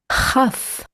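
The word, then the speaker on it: כף: Chaf. Chaf sofit. Ch, like when clearing out your throat.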